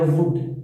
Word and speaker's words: would: जो शब्द है, जैसे आपके सामने शब्द है वुड, WOULD, WOULD, इसमें एल का प्रोनाउंसिएशन किया जाता था, एल का उच्चारण किया जाता था।